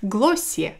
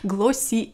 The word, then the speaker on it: Glossier: состояние исступления это бренд из нью-йорка которая называется классе и этот бренд который произносится именно так вроде по словам американских блогеров и часто в америке даже критикуют тех блогеров которые говорят неправильно которые говорят glacee р то есть надо как-то говорил о силе